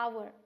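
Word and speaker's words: hour: आप दिस इस N over क्योंकि यहां पे हा साइलेंट है हम इसे क्या पढ़ने हैं अवर ए क्या है तो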